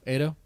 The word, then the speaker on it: Ado: stay on topic right Auto is it auto Ado it should be able